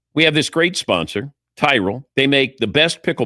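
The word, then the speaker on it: Tyrol: It's Tyrell Pickleball Shoes. You spell it T Y R O L.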